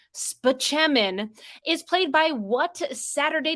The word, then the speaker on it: Spaceman: Rock Dr Leo Spaceman who pronounces his last name spechamin is played by what